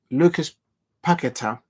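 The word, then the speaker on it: Paquetá: Lucas Paqueta. I think that's how you pronounce the name properly.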